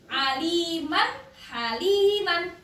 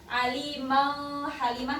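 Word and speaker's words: عليمًا حليمًا: ambil ambil ambil ya Jadi ini juga dibacanya jelas ya Aliman haliman Ali bukan alimiman tapi jelas Aliman haliman gitu paham Nggih Ini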